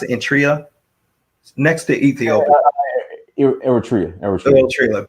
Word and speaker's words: Eritrea: How do you pronounce it? Eritrea, next to Ethiopia.